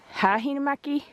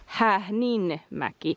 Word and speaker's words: Häähninmäki: We were saying it Hähinmäki but then I was noticing that it is Hähnmäki.